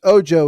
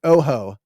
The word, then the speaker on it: Ojo: And yes, Ojo is the proper pronunciation of this. I've seen a couple people say Felix Ojo, which is that's not it. They're looking at Felix and I think seeing the O-J-O and thinking that's Spanish. I asked him, he said it's Ojo, J-O-E. That's not how it's spelled, but it's Felix Ojo.